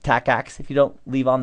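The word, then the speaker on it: TACACS+: a CS plus so although the name is tack ax plus it's just pronounced tack ax if you don't leave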